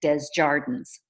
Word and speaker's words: Desjardins: elementary school with, and their last name was Desjardins, but they pronounced it Desjardins, Okay. which doesn't sound as cool in French, but it's Americanized.